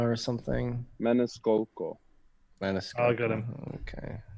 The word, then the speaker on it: Maniscalco: It's like Maniscola or something. Maniscolco. Maniscola. I got him. Okay. Maniscalco. He knows how to pronounce it.